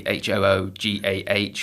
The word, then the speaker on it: hygge: The phonetic would be Hoogah or something to that effect.